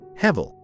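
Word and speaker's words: הֶבֶל: In Hebrew, Abel is pronounced Hevel, a term that evokes images of vapor or breath, ephemeral and fleeting elements in nature.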